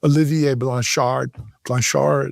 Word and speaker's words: Olivier Blanchard: His name is Olivier Blanchard, or as properly pronounced, I'll do my best French accent, Olivier Blanchard, something like that.